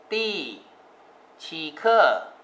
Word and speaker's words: 第七: ครับ บท ที่ 7 ภาษา จีน ออก เสียง ว่า ตี้ ชีอ ตี้ ชีอ นะ ครับ